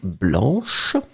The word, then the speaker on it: blanc: have the feminine form blanche. So remember, masculine form blanc, B-L-A-N-C, you don't pronounce the final C.